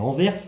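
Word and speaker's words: Anvers: En parallèle de cela, évidemment, il y a une mission à accomplir puisque nous avons deux cambrioleurs qui à Enverse, en Belgique, ça se prononce bien Enverse he, j'ai des copains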